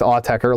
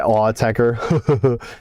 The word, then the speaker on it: Autechre: promoting a big Australian show they did with Autechre live.